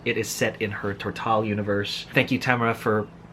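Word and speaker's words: Tortall: is set in her tortal universe thank you tamara for tammy for for posting videos online that way i know how your stuff is actually pronounced and for years i've been calling it turtle so it is set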